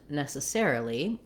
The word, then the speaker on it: necessarily: So when we look at necessary and necessarily, we have our stress on the ne syllable.